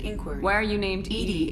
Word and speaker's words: EDI: why are you named eddie is the phonetic pronunciation of edi where are you my